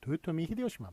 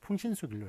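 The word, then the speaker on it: 豊臣秀吉: 도요토미 히데요시만 맞습니다. 일본 발음만 이렇게 맞게 했어요. 그래서 풍신수길로 이렇게 발음하는 한국식 한자음으로 이렇게 발음하는 요 표기는 틀린 표기가 되겠습니다.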